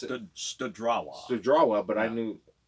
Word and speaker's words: Studrawa: And how that group is playing in Greg Studwa, is that how we pronounce it? Studrawa.